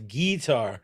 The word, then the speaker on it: guitar: Do you put the pronunciation on the tar or the git? It's a guitar.